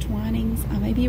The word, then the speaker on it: Twinings: Then we have, I believe it's pronounced Twinings.